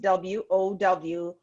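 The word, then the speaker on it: WAU: what's affecting us but it's w-a-u but it's pronounced w-o-w wow fancy fancy fancy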